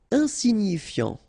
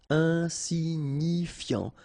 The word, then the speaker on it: insignifiant: Insignifiant. Okay, final T not pronounced, so you've got this I-A-N, ian, so F before, fiant. Insigni, okay, remember, G-N-I, ni, ni, insignifiant, insignifiant.